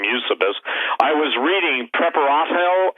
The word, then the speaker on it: Eusebius: used to be usable some people pronounce some Eusebius but I just call him you suppose I was reading prep